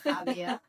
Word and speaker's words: Jávea: or words in Spanish, we have that wonderful ja, Javea, and in Valenciano is Xàtiva, right, with an X.